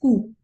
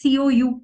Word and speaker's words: Coup: So again, there my one all-time favorite is coup. It is spelled as COUP. The P is silent.